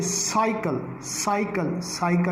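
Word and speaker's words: cycle: अब कैसे, साइकिल में से भी सीन की आवाज़ आ रही है, यानी सा साउंड यानी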